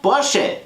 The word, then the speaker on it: Porsche: So, and the proper pronunciation is Ferdinand Porsche.